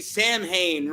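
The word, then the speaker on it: Samhain: you're you're paying him right that would be Sam Hayne right that's how you say it because don't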